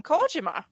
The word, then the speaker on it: Kojima: now he was like Satoshi Kojima like since when since when do we call him coima since when do you call him coima I know that's how it's supposed to be pronounced but like the same